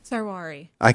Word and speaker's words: Sarwari: Sarwai. Did I say it right, Ariana? Sarwari. Very close.